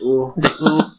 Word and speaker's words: eau: How do you pronounce it again? That French word? Ooh. Yeah, it's ooh.